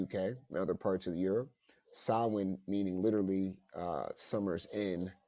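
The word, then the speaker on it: Samhain: m h a i n sa but it's pronounced sin so um it started to have some of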